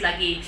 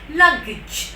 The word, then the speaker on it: luggage: And last we have in luggage, we normally tell luggage, in India at least luggage, but its normal actual right way of pronunciation is luggage, the j at the end.